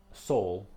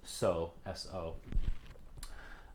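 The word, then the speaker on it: sol: so the fifth note the syllable um soul sometimes it's just so so um i don't know who came up with that but uh sometimes it's so sometimes it's soul with an l at the end so anyways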